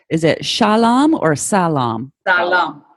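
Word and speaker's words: سلام: all right all right is it Shalom or Salam alone salaam yes yeah Salam okay so you gotta be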